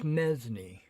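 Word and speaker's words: mesnie: A knight's armed guards are his mesni, pronounced mesni. Okay, I said it right.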